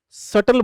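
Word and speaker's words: subtle: तो इसे सटल बोलेंगे, और सटल की स्पेलिंग ध्यान रखना, उसमें बी आता है, पर बोलते उसको सटल है।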